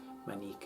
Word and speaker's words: Manik: Manik is the Yucatecan pronunciation.